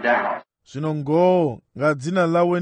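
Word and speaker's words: Daugh: Not really in his name, he's a German, D-A-U-G-H, and I also pronounce it Dow.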